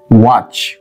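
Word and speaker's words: watch: এ টি সি এইচ টি টাকে আমরা ইংলিশে বলি সাইলেন্ট মানে নীরব থাকা টি টা কিন্তু এখানে নীরব আপনি যদি টি টা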